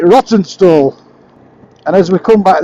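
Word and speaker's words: Rawtenstall: anybody looking at it it's spelled roten r a w t n s a l but I don't know anybody who pronounces it as roton stall if you're from around these parts that calls it rotten stall and as we come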